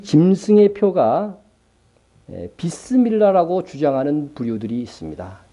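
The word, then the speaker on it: بسم الله: 먼저 이 짐승의 표가 에 비스 밀러 라고 주장하는 부유 들이 있습니다 예 이거 어떤 이미 제가 이미 설명한 바 있습니다 이비스 밀란은 경악하게 아주 상세하게 발음한 b 쓰 알라 입니다 그러니까 이스라엘 교회에서 쓰는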